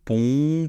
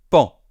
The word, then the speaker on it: paon: Paon, pon, pon, pon. Eh bien, non, c'est tout simplement pan. Un pan, d'accord? Exactement comme si ça s'écrivait P-A-N.